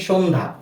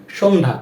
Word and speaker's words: সন্ধ্যা: এরূপ সংযুক্ত বর্ণেরও কিন্তু একটি নিয়ম রয়েছে, সেটা হচ্ছে যখন কোনো সংযুক্ত বর্ণের সাথে জফলা থাকে বা জফলার ব্যবহার হয় তখন সেই জফলার উচ্চারণটি আর হয় না। এই যে এখানে আমরা দেখতে পাচ্ছি সন্ধ্যা, সন্ধ্যা, এর উচ্চারণটা আমরা